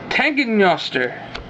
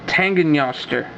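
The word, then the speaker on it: Tanngnjóstr: Tangenjoster. Yes, I pronounced it. Tangenjoster. The J is a Y sound. Tangenjoster.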